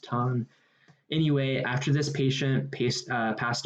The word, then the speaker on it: Tan: instances of ton ton a lot of people i think say tan but i think it was actually pronounced ton anyway after this patient